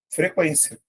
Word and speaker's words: frequência: Da mesma maneira, quando você tinha isso aqui, ó, frequência. Porque a letra U era pronunciada.